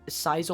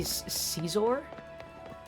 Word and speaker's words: Scizor: You say Caesar? I don't think I've ever heard anyone call it that. Caesar. I've heard cizor and just scizor.